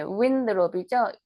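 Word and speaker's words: Winthrop: 시티 오픈 어힐 바이 존 위드롭, 네, windrop이죠. WIN이니까 windrop. TH 발음, 번데기 발음해서 windrop 이렇게 발음하시면 되고요.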